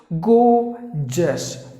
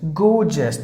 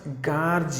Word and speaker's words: gorgeous: especially in parks and the next word is go just go just a letter or a silent because it is